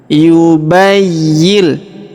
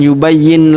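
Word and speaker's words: يبين: Perhatikan cara bacanya. Yubayyil. Jadi bukan yubayyin lana bukan ya tapi yubayyil.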